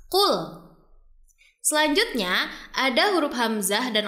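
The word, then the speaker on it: قل: Pertama, di sini terdapat huruf lam sukun yang tidak boleh dibaca memantul karena bukan termasuk huruf qalqalah. Jadi bunyinya qul.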